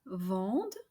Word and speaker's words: vendent: And finally, don't pronounce the E and T letters at the end of ils vendent and elles vendent. All right, everyone, we have